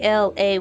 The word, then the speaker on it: ELAY: E L A Y. Pronounced LA like the city.